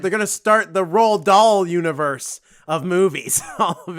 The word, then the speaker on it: Roald Dahl: Didn't he also, Rodell? Is that how you say his name? Roddle? Oh, Roald Dahl.